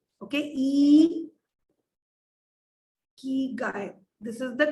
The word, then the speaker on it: ikigai: simplify this okay so firstly it is not eeky it is eek guy okay e Guy this is the correct